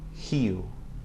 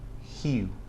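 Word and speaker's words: rio: At the beginning of a word or at the beginning of a syllable after another consonant, R is pronounced similar to the H sound in English. Okay, so listen to the examples. Hua, hiu.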